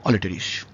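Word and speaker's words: Aletris: ই আর আই এস ইংরেজিতে বাংলায় আমি করেছি অলিটারিস কোন কোন জায়গায় অল্টারিস বা অলট্রিস এরকম ভাবে বলা আছে মনে রাখবেন ব্যাপারটা একই উচ্চারণ ইংরেজির উচ্চারণ বাংলায় করতে গেলে একটু অল্টার করে যেতেই পারে আমরা ধরে ধরে যেটা করেছি এটা হচ্ছে অলিটারিস অলেস এটাকে কোন জায়গায়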